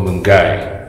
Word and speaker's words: Milngavie: small town here in scotland and it's called mungai mungai let's go let's quickly have a walk